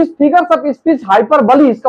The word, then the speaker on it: hyperbole: दिखा दिया जाता है तो इस फिगर्स स्पीच हाइपर बली इसका उच्चारण अगर देखेंगे तो हाइपर बली इसको कहते